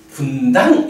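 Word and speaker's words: Buddhaṃ: 계속 그 발음을 하는데 붓당이라고 발음을 안 하고 분당이라고 발음을 하는 거야.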